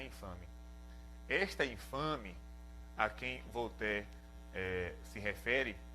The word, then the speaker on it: Voltaire: Por exemplo, Voltaire, um filósofo muito conhecido, na verdade se escreve Voltaire, né, em português, mas se pronuncia Voltaire.